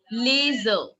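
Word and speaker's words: les yeux: Like it will be pronounced, if I want to say the eyes, it will be pronounced as laser. What will it be? L-E-S and Y-E-U-X. So that is called laser.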